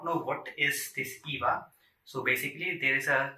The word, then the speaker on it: EYVA: According to bluesemi, the device is pronounced as EYVA with an I, but I don't know